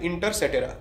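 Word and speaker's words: Inter caetera: I'll spell it out. I-N-T-E-R-C-A-E-T-E-R-A. Inter cetera.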